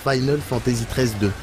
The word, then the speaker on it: Final Fantasy XIII-2: en RPG bah apparemment ça se prononce Final Fantasy 13 2 on invente rien c'est